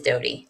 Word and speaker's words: Doty: And he says, I've been mispronouncing her surname for many years, even when I worked with her. It is Doty.